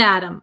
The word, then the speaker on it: atom: of the pronunciation uh we say Adam Adam it becomes a flap T so it sounds like a D sound up an atom up an atom up